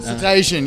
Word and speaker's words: Cetacean: So is it how it pronounced, Cetacean? Cetacean. Yeah, I get that. That's like the most asked question is how the fuck do you pronounce my name? It's set and then like ocean.